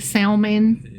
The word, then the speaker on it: Salmon: Like salmon. Sure. Like the fish.